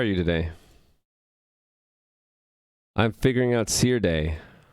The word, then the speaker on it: Serde: a serializer since i'm i'm choosing to call it seer day because serialization and d serialization i pronounce serialization and d serializations that seer d c or d i have